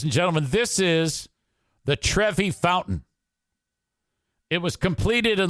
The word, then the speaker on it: Trevi: de Trevi trevini or Trevi not travini Trevi I'm saying it wrong Trevi Fountain idiot you got all these